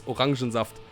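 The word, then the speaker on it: Orangensaft: map called orange aft i say it in german it's organzaft i'm very sorry so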